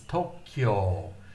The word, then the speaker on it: Tokyo: So that K, kyo becomes one syllable. So to represent that, the to and the ki, the ki and the yo and the you have all been written together to represent one syllable, Tokyo. 2 syllables actually. The kyo is short, and then it's drawn out to O, Tokyo. So Tokyo has 2 long O's.